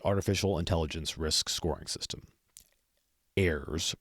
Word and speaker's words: AIRSS: intelligence risk scoring system airs pronounced like the plural of air and in part one